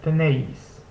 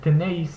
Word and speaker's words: tenéis: Next is the AE combination, which together makes the sound similar to what you hear in the English word bay. So we see this in words like treinta and tenéis.